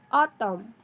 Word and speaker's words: autumn: For example, autumn. Autumn with a silent N, sword with a silent